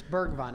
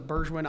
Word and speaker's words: Bergwijn: It's Bergvine. I always thought it was Burgewin.